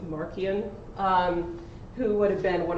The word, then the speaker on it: Marcion: He was an opponent of a guy named, sometimes pronounced Marcion, sometimes pronounced Marcion. I'm going to go with Marcion, who would have been one of the early Gnostics.